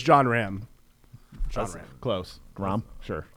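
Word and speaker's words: Jon Rahm: joking I know I know actually John it's John Ram John Ram close Ram sure y John Ram it's okay I mispronounced names all the time uh so John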